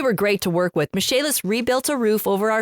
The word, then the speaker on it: Michaelis: Besides being great general contractors, Misc has experts in waterproofing, foundation repair, mold remediation, indoor air quality, emergency fire and flood restoration, and insurance restoration. Spelled Michaelis, pronounced Misc.